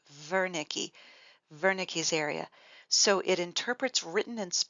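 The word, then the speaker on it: Wernicke: Aphasia is Veri so I know there's a w there but it's pronounced like a V Veri vernick's area so it interprets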